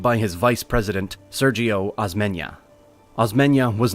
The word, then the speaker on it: Osmeña: narrating a script, but the pronunciation of former President Osmeña, who took over after President Manuel L. Quezon died, is Sergio Osmeña.